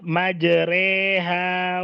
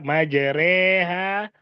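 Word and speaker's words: مجريها: surat hud ayat 46 maka bacanya majreha Wal mursaha gitu ya majreha Wal mursaha dan surat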